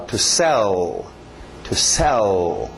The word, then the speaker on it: sell: Alright, próximo verbo, para no L, não é o sell, não, para no L, é um L de gaúcho no final. To sell.